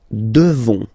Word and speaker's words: devons: Nous devons. Okay? Classic ending ONS for nous. Okay? You just pronounce this on, on, this nasal. Okay? And then the S, final S is not pronounced.